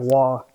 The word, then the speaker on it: Roy: on yeah Mount Rushmore because Patrick Roy Patrick wall I guess he is how you actually pronounce it he played 478 games for the